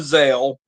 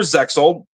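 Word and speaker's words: Zexal: a little bit of Zale because that's how it's pronounced in Japan, or Zeel, you know, tomato, potato to potato.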